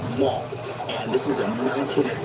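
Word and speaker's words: Man: We drove to the city of, it's spelled M-A-N, but you pronounce it Mont.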